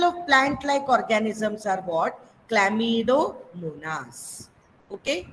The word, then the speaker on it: Chlamydomonas: Chlamydomonas. Okay, say behind me, students. Chlamydomonas. Lamidomonas.